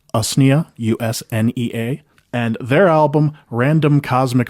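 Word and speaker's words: Usnea: And according to the internet, it's pronounced US u nea.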